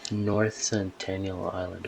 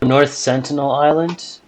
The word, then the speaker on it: North Sentinel Island: is endless like North Centennial North Centennial Island North Centennial Island what is that it's that island where like